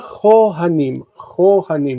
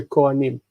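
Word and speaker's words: כֹהֲנִים: Okay, so v'shiv'a chohanim, you see that? Cha. Even though we normally say kohanim.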